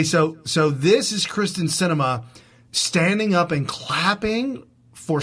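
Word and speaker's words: Sinema: christian SEMA I thought how do you pronounce that woman's name from from Arizona close cinema cinema yeah christened cinema think of a theater okay so instead of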